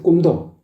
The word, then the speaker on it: 꿈: 눈 눈물 눈물 아시겠죠 꿈도 꿈 바짝 오므려서 입술을 바짝 오므려 가지고 꿈 꿈 이렇게 해 줘야 된다고요 눈 물 아시겠죠 입술을